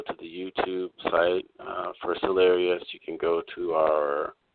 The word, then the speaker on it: Cellarius: So, for example, if you look at Cellarius, spelled like cells of a body, and then Arius as in hilarious minus the word hill, you can look up our Instagram, Cellarius2084.